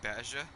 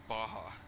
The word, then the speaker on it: Baja: the Ford Bronco yeah you should say Basia it's Baja the don't worry most people